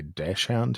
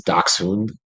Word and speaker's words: Dachshund: since it's actually that's how it's pronounced in German, where they came from, is Dachshund.